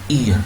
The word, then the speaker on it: ear: Bukan R ya, tapi ear bacanya.